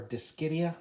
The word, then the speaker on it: Dischidia: I prefer Dischidia because I don't want to sound like I'm cursing.